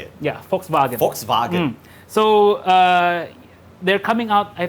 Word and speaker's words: Volkswagen: I pronounced that correctly. It's technically how you say it. Yeah, Volkswagen.